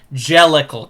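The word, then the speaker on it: Jellicle: It's a port manto of a cochney accent saying dear little cats. Jellical cats.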